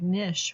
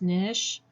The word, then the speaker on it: niche: Maybe one that advertises to a specific niche, right? You'll hear this word pronounced niche or niche. Either is correct. It's based on regional pronunciations. So you are correct to pronounce it either way.